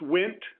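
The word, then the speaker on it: Wnt: from cartilage to bone I've heard it pronounced went but the W NT family of molecules helps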